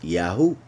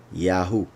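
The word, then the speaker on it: יהו: So it should be clear that these first 2 letters are pronounced Yah, just as it should be very clear that these 3 are pronounced Yahu. Yahu.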